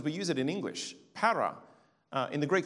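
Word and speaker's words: παρά: Para. In the Greek spelling, it looks like papa. But the letter that looks like a P is actually rho. It's pronounced as an R, para.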